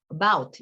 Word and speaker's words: about: 네, 이거 발음을 우리가 about 이건 쉬우니까 여러분들이 그냥 하고 있지만 about 이런 것들은 이게 어는 굉장히 힘이 빠졌어요 앞에.